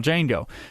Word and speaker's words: Django: he spells it and he says the D is silent and Fran oero says